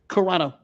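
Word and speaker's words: Carano: So as you were saying, Gina, is it is it Corona? Right. That's how you say it. Corano.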